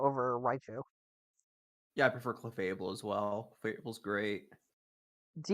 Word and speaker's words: Clefable: you do yeah what about clefable over sorry clefable over Raichu yeah I prefer clefable as well Cable's great do you ever realize